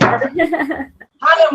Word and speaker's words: Higham: It's Higham, right? Yes, said it right. Higham with us this evening.